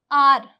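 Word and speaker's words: hour: जैसे कि एच ओ यू आर इसे हम क्या बोलते हैं? इसे हम बोलते हैं आर। आर बोलते हैं। ठीक है? कई लोग इसे आवर बोलते हैं।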